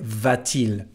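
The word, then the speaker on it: va-t-il: letter T here well this letter T has nothing to do with grammar it's just to help the pronunciation bettering these two vowels a and I we don't say V but we say vtil so in this case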